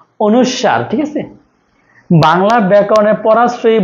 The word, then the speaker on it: অনুস্বার: আছে পরাশ্রয়ী বর্ণ কোনগুলো অনুস্বার বিসর্গ চন্দ্রের মধ্যে অনুষ্কার না অনুস্বার ঠিক আছে বাংলা ব্যাকরণে পরাশ্রয়ী বর্ণযুক্ত শব্দ কোনগুলো